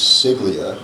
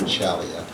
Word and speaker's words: Ciaglia: back in the day it was CLIA how we pronounce his name and we were corrected along the way is John chalia um but John Jimmy